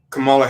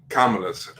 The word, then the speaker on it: Kamala: I ever mispronounced a Kamala to a Kamala, I got chewed out for about 5 solid minutes. So it's better than Kamala though, because some people have made her like rhyme with Pamela.